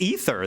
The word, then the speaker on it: aether: and like messed up it's pronounced it's pronounced ether that's how they pronounce it they don't pronounce it aether i know it's got an a in it yeah and i'm